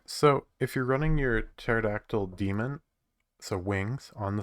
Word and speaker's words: pterodactyl: our database username is pterodactyl and i don't i said i pronounced the p like very lightly what the hell then